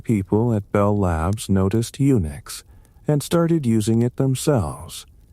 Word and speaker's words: Unix: Thompson's small system supported only a few users at a time, often just one. So it was Uni X. Unix.